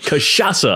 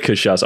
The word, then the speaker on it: cachaça: Cachaça is funny because it's got a lot of C's in it and they're all pronounced differently. You got Sha.